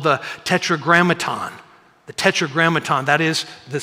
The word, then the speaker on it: Tetragrammaton: Some of the, just say Tetragrammaton so you can pronounce it correctly.